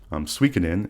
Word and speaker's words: Suikoden: Suikoden is how you pronounce that game, and the remaster of 1 and 2 is out right now for Suikoden.